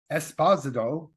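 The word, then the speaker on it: Esposito: have basically voice roles Gian Carlo esposo is how he actually pronounces his name oh yeah I've met the man so I do know as esposo and Stanley Tucci um again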